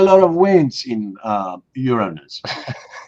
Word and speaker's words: Uranus: But not just the wind, the strength of the wind because Uran uh Uranus by the way that's how you should pronounce that planet Uranus.